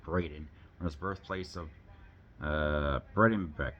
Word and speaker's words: Braeden: He concocted the name Braeden from his birthplace of Bredenbeck, and adding the letter A so it would be pronounced correctly by English speakers.